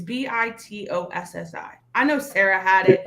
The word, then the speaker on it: Bitossi: Basati? It's Bitossi. I know Sarah had it. Vitosi. Say it again. Vitosi. Bitossi.